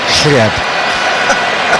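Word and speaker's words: хлеб: We've learned, haven't we, that the word for bread is chlyeb, which we are using probably more than any other Russian word. That it rhymes a bit with Jürgen Klipp.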